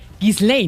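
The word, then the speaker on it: Ghislaine: señor Jeffrey Epstein, que además me parece dificilísimo pronunciar el nombre. Gislane, ¿no? Así se pronuncia. Gislane Maxwell. Sí, Gislane le dicen algunos, Gislane le dice usted. Entonces ahí digamos Gislane para hablar del mismo idioma. Gislein Maxwell, que era la pareja de Jeffrey Epstein,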